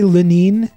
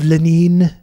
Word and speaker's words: Lenin: several decades Lenin was Trump right to say lanin I heard I saw some people saying like in Russian that's actually how you say it I just thought it